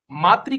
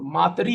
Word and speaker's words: मातृ: मातृ का उच्चारण मातरी होगा। ठीक है? ये ऋ होता है। ठीक है? इसको याद रखिएगा मैंने एक मतलब नोट डाल दिया इसमें। तो ये री मातरी उच्चारण कैसे करेंगे? मातरी। ठीक है? मातृ नहीं माति।